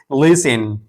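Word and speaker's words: listen: इसको पढ़ेंगे लिसिन। इसी तरह ऑफेन। ऑफेन इसको ऑफिन नहीं पढ़ेंगे बल्कि टी साइलेंट है।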